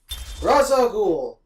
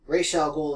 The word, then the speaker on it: Ra's al Ghul: Ra's al Ghul. Ra's al Ghul in the cartoon, but Ra's al Ghul, I think it's actually pronounced, means head of the demon, or the demon's head.